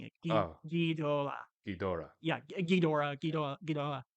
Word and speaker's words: Ghidorah: I believe, is they like Ghidra. Ghidra. Ghidra. But the Japanese characters, though, is the way you're pronouncing it. Oh, Ghidorah. Ghidorah. Yeah, Ghidorah, Ghidorah, Ghidorah. Oh, Uh, interesting. You got to roll your R's.